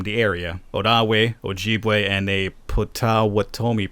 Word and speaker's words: Ojibwe: former tribes from the area oh da way oh gee way and they put what Thome people okay I probably mispronounced everything right there but apologies my ancestors were Ojibwe though you probably heard it more often said